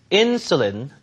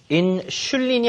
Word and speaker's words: insulin: He takes medicine and gets insulin injections. 인슐린이 아니라 insulin 이렇게 하시면 됩니다.